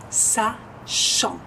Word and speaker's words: sachant: Y para savoir va a ser sachant, sachant. Acuérdense que el CH es sh, yang, nasal, T no se pronuncia, sachant.